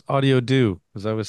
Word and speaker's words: Audiodo: on how to pronounce audiio do as I was saying it wrong yeah that's fine everybody has their own way uh but it's sort of how do you do how do you do